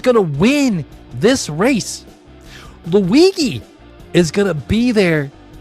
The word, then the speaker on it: Luigi: Even when Luigi and yes, I know it's pronounced Luigi.